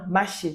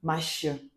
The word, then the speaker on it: Mache: Maché, bon, ça c'est la prononciation en français. En langue maternelle, je suis de l'Ouest Cameroun, Bamendjo, on dit Mache.